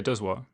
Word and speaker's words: Dozois: Yeah, Dozois.